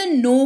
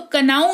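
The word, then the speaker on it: know: देखो के एन ओ डब्ल्यू है तो कनाऊ नहीं पढ़ते हैं इसको। इसको नो पढ़ते हैं। और यह क्यों होता है? क्योंकि यहां पर के जो है वो साइलेंट हो जाता है।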